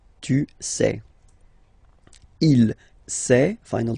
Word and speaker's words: sait: Il sait. Final T not pronounced. Elle sait.